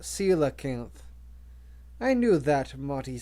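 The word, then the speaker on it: coelacanth: the circanth to rescue the kayaka Marty said pronouncing the name Salo kanth grish shook her head it's pronounced Sila kanth I knew that Marty said his usual response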